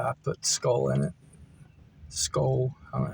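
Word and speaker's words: Skoal: Skull, I don't know how to pronounce it.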